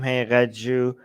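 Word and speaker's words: Haqiqatjou: Hey, Raju. When spoken fast enough rhymes with Pikachu.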